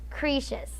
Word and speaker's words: Croesus: Okay, I know it's spelled as Croesus, but the way you pronounce that is Croesus.